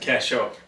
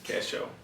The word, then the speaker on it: Casho: one this is matt how do you say it listen casho cash cash show casho realty even has a little